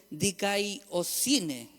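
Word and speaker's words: δικαιοσύνη: Y aquí es un poquito más difícil la pronunciación, pero en griego es dikaiosine.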